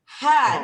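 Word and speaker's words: ح: Ha, ini ha pedas. Enggak ada titiknya. Ha biasa. Ha, kayak orang pedas. Ha pedas namanya kalau saya bilang dulu. Ha tipis ya.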